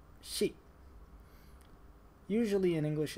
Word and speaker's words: ရှိ: It's pronounced sheet.